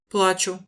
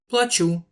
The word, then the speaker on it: плачу: mots, mais il vaut mieux faire attention à l'accent tonique parce que c'est parfois la seule chose qui différencie deux mots. Плачу, Je pleure, плачу, je paye, узнаю, je reconnais, узнаю, je reconnaîtrai,